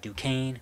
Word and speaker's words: Duquesne: It's Duquesne. The S is silent.